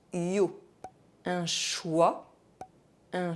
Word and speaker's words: choix: OI are pronounced wa, but IO are pronounced yo. Un choix, un chiot.